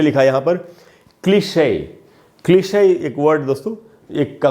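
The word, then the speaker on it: cliché: फिर से बताता हूँ आपको, the word has an accent mark. ई के ऊपर अगर एक्सेंट मार्क हो तो ई साइलेंट नहीं होगा, उसका उच्चारण होता है।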